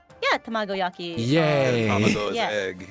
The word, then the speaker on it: tamagoyaki: Did I pronounce that at all correctly? Yeah, tamagoyaki.